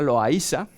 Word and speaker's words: Loaysa: Incluso ni siquiera hay, lo verán escrito con la Y o con la I latina, se pronuncia Loaysa.